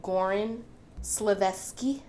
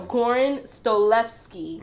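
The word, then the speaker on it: Goran Stolevski: It is directed by Goran Slevsky. Did I say that right? Great pronunciation. No. Goran Stolevsky.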